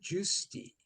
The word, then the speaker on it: Giusti: He's a Juicy. pirate. Yeah. All right. Let's get back down to pitchers. Dave Juicy.